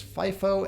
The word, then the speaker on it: FIFO: The accountants refer to the choices here as FIFO and LIFO. Yes, those are pronounced that way.